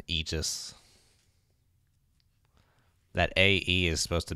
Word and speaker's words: Aegis: that would have been funny I just it's pronounced Aegis Aegis yes sir this really pronounced Aegis that AE is supposed to be like drawn